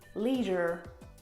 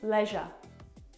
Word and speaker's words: leisure: But American pronunciation, leisure with the R. Yeah. And Australian pronunciation, leisure. Bit lazier.